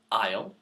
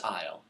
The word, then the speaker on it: aisle: Now these are three words which, as you can tell, sound the same, but have three different spellings and three different meanings. I'll break it down for you. The first aisle is spelt A-I-S-L-E, and that is a